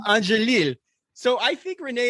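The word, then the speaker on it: Angélil: Angelil. So I think Renee Angelil, who was very protective.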